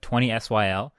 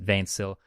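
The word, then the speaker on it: 20syl: hard to explain but twenty Syl which is also known as vain Syl because twenty Syl is the spelling of it but it's not English so you pronounce it vain Syl either way his music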